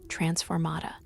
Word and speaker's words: transformata: "Remember," Professor McGonagall called over the sounds of students practicing their wand work, "the incantation is transformata, with the emphasis on the second syllable.